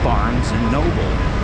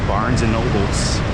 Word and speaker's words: Barnes & Noble: And it's pronounced Barnes & Noble. Barnes & Noble. A lot of people like to say Barnes & Noles, but there's no apostrophes.